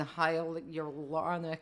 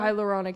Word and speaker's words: hyaluronic: So I was I looked at a cream last night that's some sort of firming and huronic acid. I can't even say it. How do you say that word? Hyaluronic acid.